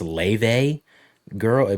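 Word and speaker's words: Laufey: I also found this I guess it's pronounced Lave girl, but it's spelled Lafe, I found her because of the God of War discussions. Laffy, yeah.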